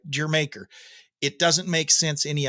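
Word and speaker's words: D'yer Mak'er: I guess I've heard some people call it Dyer maker but I guess I take umbrage at this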